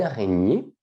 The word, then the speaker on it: araignée: une renier d'accord attention la prononciation c'est comme champagne ou polignac araignée une araignée est ici nous avons